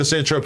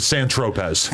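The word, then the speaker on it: Saint-Tropez: me to go to S Trope because when I went there I pronounced it San Tropez it is I'm sorry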